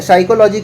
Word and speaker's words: psychology: ठीक है, साइकोलॉजी का स्पेलिंग देख लीजिए, PSYCHOLOGY, ये साइकोलॉजी का स्पेलिंग है। यहाँ पे P साइलेंट होता है।